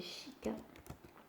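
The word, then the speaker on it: 鹿: Alors le cerf, c'est chica. Oui, ça se prononce comme fille, comme le mot fille en espagnol, mais c'est juste que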